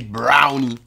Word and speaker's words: brownie: Elle se moque de nous, les Français, parce que genre on dit des brownies au lieu de dire des brownies.